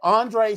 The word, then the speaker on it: Andrea: But then before I could say anything, he was like, hi, Andre so-and-so. I was like, Undrea is pronounced Andre.